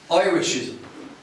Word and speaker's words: Irishism: Now the first syllable is pronounced I, as in, Oi, you, get off the bike! Irishism.